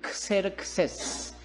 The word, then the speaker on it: 크세르크세스: 그런데 이 사람의 원래 이름은 크세르크세스. 발음을 하면 이렇게 되는 거예요.